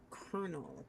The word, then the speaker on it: colonel: Like the way it's spelled is like colonel. It doesn't sound like Colonel.